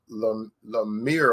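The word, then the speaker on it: Lamech: a whole two women his name was Lemire or something like that you spell it l e m e c h he's in Genesis he's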